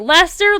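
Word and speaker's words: Leicester: like newcastle thank you wait lester literally it's lester yeah he's trying to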